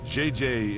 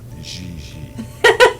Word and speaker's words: JJ: En français, you pronounce G like J and J like G. She may very well be JJ in America, but in France, she is Gigi.